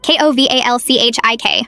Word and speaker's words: Kowalczyk: "It's Kowalczyk," she shouted, slamming her hand on the desk. Kowalchik. How hard is that?